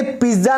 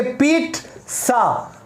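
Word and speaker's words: pizza: दोस्तों आपने सही सुना, मैंने पिज्जा नहीं बोला, ये गलत है। आप क्या बोलेंगे? पिज्जा। तो इसको आप इंग्लिश में ऐसे भी लिख सकते हैं, आप इसको कहेंगे पीट सा। ओके, यही इसकी करेक्ट प्रोनाउंसिएशन है दोस्तों, याद रखना।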